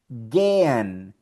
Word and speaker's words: gehen: Aquí lo tenemos también, la combinación EHE en otro verbo en alemán, que es el verbo ir, como en inglés go, gehen, gehen.